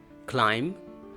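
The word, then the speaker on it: climb: खाट पे चढ़ गया क्लाइंब क्लाइंट क्लाइंबेड इसमें भी साइलेंट को साथ लगाओ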